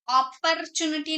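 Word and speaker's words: opportunity: Next word is अपॉर्चुनिटी, अपॉर्चुनिटी का मतलब होता है मौका या उपहार, अपॉर्चुनिटी नहीं, अपॉर्चुनिटी, अपॉर्चुनिटी। रॉ साइलेंट है।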